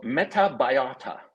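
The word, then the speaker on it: Metabiota: president's son was involved in a company called metabayata uh I will spell it for you m-e-t-a-b-i-o-t-a now metabayata had a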